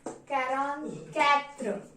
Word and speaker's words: quarante-quatre: 44 is pronounced as quarante-quatre. Quarante-quatre.